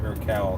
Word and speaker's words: Urquell: Everybody that I've known that ever drank it called it Urquell, so that's the English. I'm sure in Czech it's pronounced differently. I believe you though.